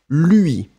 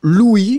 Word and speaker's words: lui: Lui. Be careful, it's not Louis, because Louis, that's the name of somebody. Louis XIV, for instance. So it's lui. Make the difference between lui and Louis.